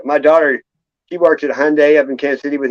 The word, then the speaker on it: Hyundai: job at a Hyundai it's called Hyundai like Sunday is how you say it they corrected me what's